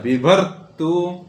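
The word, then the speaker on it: विभर्तु: को नीचे करेंगे विभु विभतु क्या हो जाएगा विभर तू विभत विभरतु विभरतु भूत भरतरी भूत भरतरी भूत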